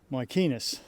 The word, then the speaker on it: Mycenae: And we are going to start here today with the ancient site of Mycenae. Or, as the Greeks pronounce it, Mycenae.